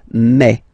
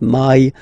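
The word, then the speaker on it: mai: pronounce it okay so don't pronounce e don't try to pronounce it no it's me me so it's not my it's me okay and then here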